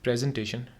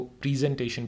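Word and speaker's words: presentation: ये जो लफ्ज़ है प्रेजेंटेशन, इसको प्रेजेंटेशन भी कहते हैं, दोनों इसके स्टैंडर्ड प्रोनाउंसिएशन हैं, दोनों तरह से ठीक है।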